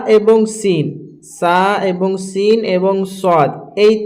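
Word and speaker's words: ث: যেমন দেখেন এখানে সা হচ্ছে নরম আওয়াজে, সা হচ্ছে নরম আওয়াজে। সিন হচ্ছে শির শির ও পাতলা আওয়াজে, সিন হচ্ছে শির শির এবং পাতলা আওয়াজে। আর সদ হচ্ছে শির শির ও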